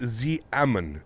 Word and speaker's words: Xiamen: It is Xiamen is pronounced Xiamen.